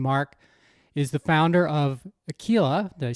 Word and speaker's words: Aquila: Watson, and Mark is the founder of Aquila.